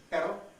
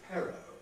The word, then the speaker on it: pero: English if we take the Spanish word for but which is per and compare that with an English mispronunciation of that same word which is pero do you notice the difference in English BTK are aspirated in Spanish they're not